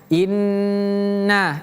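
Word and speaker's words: إِنَّ: Inna, lihat di sini huruf nunnya tasdid atau sabdu. Jadi bacanya inna. Ingat ditekan ditahan baru lepaskan.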